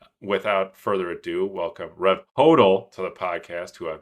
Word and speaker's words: Hodl: until he started his own podcast and started pronouncing it on there. So, without further ado, welcome Rev Hodel to the podcast, who I've been calling Rev Huttle for like four or five years.